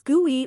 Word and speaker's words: GUI: either graphical user interface also known as GUI which is pronounced as guy or by using a